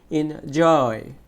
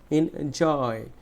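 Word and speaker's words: enjoy: এনজয়, এনজয়, এনজয়। দেখো জয় বলতে গেলে একটু জোরে বলতে হয়েছে, এনজয়, উপভোগ করা।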